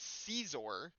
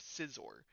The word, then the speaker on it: Scizor: I say Scizor more than I say Caesar because I originally said Scizor. Then I got told I got corrected that it is Caesar. And then I watched the anime and found out that the person that corrected me was wrong. It is in fact Scizor which is further proven by the fact that Scyther is paper, Scizor is scissors and Cleor is rock